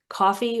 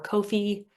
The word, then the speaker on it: Ko-fi: That's Ko-fi, which looks like coffee or Ko-fi or a number of other things, but we're told it's pronounced Ko-fi.